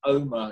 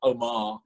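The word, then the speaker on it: Omagh: And just to make sure that we keep our Northern Irish listenership, by the way, Charlie, it's pronounced Omar, it's not Omar.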